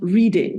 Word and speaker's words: Reading: listeners who don't know reading reading in England is spelled reading but it's pronounced reading is is that right